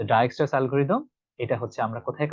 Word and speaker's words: Dijkstra: অনেকে এটা উচ্চারণ করবে ডিজেক্স ডাইজেক্টরিদম remember this is নট the correct answer এটা হচ্ছে একটা অন্য ভাষার একটা নাম সেজন্য এটা ভাষাতে এই ডাই এক্সট্রা এখানে দেখবেন যে টা